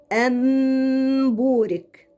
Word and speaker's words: أن بورك: من بعد أن بورك، كذلك النون هنا قلبناها إلى ميم وحطينا الميم الصغيرة فوق للدلالة على إني هنطق ميم.